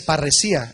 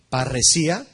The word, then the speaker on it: parresía: griego significa Eso significa se dice parresía en griego con doble r parresía como parecía pero con doble r y con acento en la i y significa seguridad